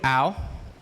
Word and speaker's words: Au: My name is Au. Yes, it's pronounced ow, like when you hurt yourself.